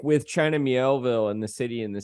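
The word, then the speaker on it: Miéville: you know uh with we can say it right it's China meowville like with China mielville and the city and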